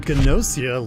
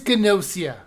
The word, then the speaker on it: Gnosia: we're fine you win it is gnosia i'm not re-recording this whole review so enjoy my mispronunciation of nausea